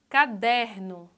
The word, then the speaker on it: caderno: Outra palavra, caderno. Caderno. Ó, a sílaba mais forte é der. Não é a última, é a penúltima. Então ela é paroxítona.